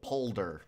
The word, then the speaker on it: polder: build a poder here polder am i saying that i keep saying poder i think polder i think is correct pol polder with an l oh my god polder